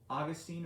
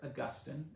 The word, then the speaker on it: Augustine: so we're going to discuss augustine or augustine and you know the interesting thing is is both pronunciations are correct um kind of depends on where you're coming from europe and uh uk america i tend to say augustine so we're going to